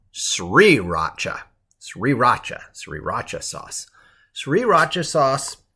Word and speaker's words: sriracha: how to pronounce it not to racha but sriracha sriracha sriracha sauce sriracha